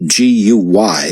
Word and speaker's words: Guy: The man pronounced G-U-Y as Guy with a hard G, the French way, and B-L-O-D to rhyme with cod, as if Scandinavian.